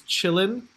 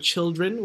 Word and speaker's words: children: like for instance uh i think it's deep river that has chilean right instead of children we're not going to sing children right where you can